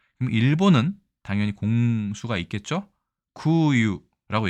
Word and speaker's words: 空輸: 구유라고 얘기합니다. 숫자를 슈로 발음하지 않고 유라고 발음하는 게 좀 특이하죠.